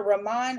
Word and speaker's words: Rahmon: zooming in with dr rahman hart did i say your name right you did you said it right because there's a there's an h in there and so yes you